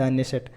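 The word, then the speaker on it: Knesset: यहाँ पे के साइलेंट है लेकिन कहा जाता है द नेसेट.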